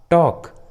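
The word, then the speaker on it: talk: जब भी किसी इंग्लिश वर्ड्स में एल, ए या ओ या यू के बाद आता है तो एल साइलेंट होता है, एल का उच्चारण नहीं करते, जैसे हाफ, टॉक, वॉक, बाम।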